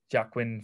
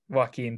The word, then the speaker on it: Joaquin: immediately like you know you've said jaquie and jaquin phoenix i don't know how you can pronounce that properly joaquin thank you i think that's terrible